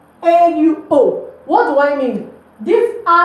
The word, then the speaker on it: au: I came about the AU here. So AU is a combination of this A and this lo, which gives us O.